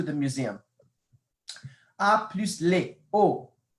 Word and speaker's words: aux: A plus les, o. Notice the same pronunciation, o, except there's an x at the end, and you just have to memorize the x.